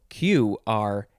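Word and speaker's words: Qrank: Is it Q-rank or is it crank? I don't know if there was ever an official answer, but I'm pretty sure it's crank. It was pronounced crank.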